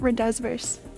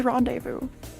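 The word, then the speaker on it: rendezvous: meant this is like when I learned that Rondevu was R it's not rendes it's Rondevu French Charlamagne I thought it was charl Magny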